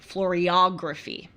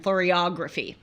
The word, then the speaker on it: Floriography: And it was about Floriography, or actually it's said Floriography. I looked this up so I can say it right.